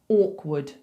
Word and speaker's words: awkward: So we're going to say orc, orc. So forget about that W. It's not ow. It's not a rounded sound. It's forward. Orc, wood. like the wood from a tree. Awkward, awkward, awkward, wood. Okay, so there's an R that we have to ignore because we're not saying awkward. And there's also a W that we have to ignore because we're not saying awkward. It's just awkward, awkward.